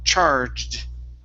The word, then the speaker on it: charged: Okay, we have an ed ending here. The word is pronounced charged. Charge. Okay, give me a D at the very, very end.